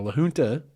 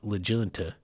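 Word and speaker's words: La Junta: to Lun Colorado now Luna is spelled l a j u n ta a that is that proper Spanish pronunciation it's not legun it's Lun and anyway Lun is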